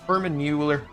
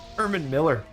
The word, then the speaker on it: Herman Miller: # community PC gaming chairs office chairs human Herman Mueller or Herman Miller. Talk over I have used Herman Mueller Miller. I keep saying it wrong.